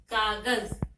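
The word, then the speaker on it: कागज़: कागज में भी ज के नीचे नुक्ता लगा हुआ है और इसका उच्चारण हो गया ज, कागज।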